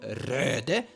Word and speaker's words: Røde: This is called Røde, but some people actually call it Rode because it's spelled in a different way. It's Danish, and it's a great thing to basically hold up your microphone.